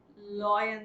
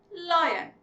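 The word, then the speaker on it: lion: हमारे animal chart पे एल फॉर लॉयन सिखाया गया. लॉयन, my dear, it's not called लॉयन. The correct pronunciation is लायन.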